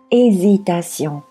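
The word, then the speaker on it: hésitation: 那我们今天的第一个单词呢是 hesitation，犹豫。那么这个单词开篇的 ash 是不发音的啊，也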